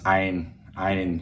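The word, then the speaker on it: ع: Otherwise, if you wanted to say it with the English or American accent, it's Ein, like Einstein.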